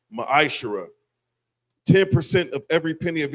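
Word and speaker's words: מעשר: verses 8 through 10, means 10th in the Hebrew is pronounced ma'ashara.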